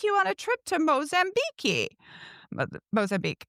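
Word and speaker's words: Moçambique: on a trip to Mozambi." Mozambique, it's pronounced in Portuguese.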